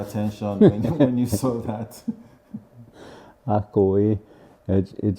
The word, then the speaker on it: akowé: So this is a Nigerian word, a Yoruba word to be precise, and it means a teacher or someone who's written a book or a writer, and it's pronounced Akowe, Akowe.